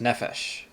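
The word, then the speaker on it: נֶפֶשׁ: which is soul or person and actually that's pronounced nephesh with the accent the accent is over the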